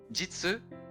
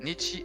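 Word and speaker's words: 日: In Chinese it is jitsu. Mhm. Or wait ni. Ni ni. Okay. Okay. Nichi and depending on the ver on the word that is used in right.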